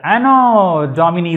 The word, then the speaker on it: Anno Domini: இது வந்து ஆனோ டாமினி தான்.